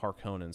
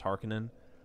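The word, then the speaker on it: Harkonnen: was a kid I used to call them harkonen but it's actually pronounced Harkin um Vladimir Harkin and the baron uh I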